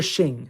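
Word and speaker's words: Xing: Anyway, however you want to call them, they're shing. If you can speak Chinese, at least I can't speak Chinese, but I've been told that the X is pronounced SH. So so the shing, I like to call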